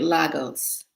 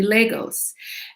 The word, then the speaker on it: Lagos: an apology for um mispronouncing legos last week i kept calling it lagos it's actually legos and so my mom